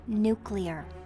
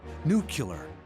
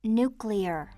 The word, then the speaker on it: nuclear: this you said the word wrong read its nuclear yeah I know nucular you did it again it's pronounced nuclear that's just what I said new killer yeah honey listen to me its nuclear you're